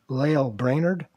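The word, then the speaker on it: Lael Brainard: is coming up here at some point and lail brainerd yeah did i pronounce that i think you got it right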